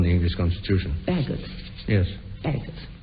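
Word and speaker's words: Bagehot: Bagot. Is that how you pronounce it? Badgett. Badgett, I think.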